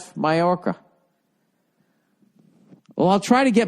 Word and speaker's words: Mallorca: Now that makes sense, Mallorca, right? Because in Latino, Hispanic there, whatever the fuck you're supposed to say, the J is a Y, right?